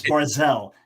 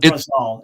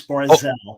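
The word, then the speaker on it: ברזל: Anyone who knows Hebrew knows it's barzel. It's not barzal. It's barzel.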